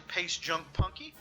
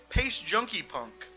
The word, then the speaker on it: Pace Junkie Punk: On January 11th, 2023, credit to Pace Junk Punky, closing in on 36,000 reputation points. That's very punk rock of you. And I said your name wrong. It's Pace Junkie Punk.